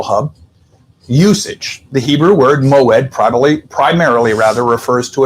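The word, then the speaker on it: מוֹעֵד: Pronounced, if I got this right, Moed. The stress is on the ed.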